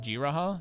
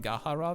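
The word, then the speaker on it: G'raha: uh graham anyway or is it g raha has ever been saying the entire time is it g raha is the way it's pronounced chat and i've been saying gahara the entire time curse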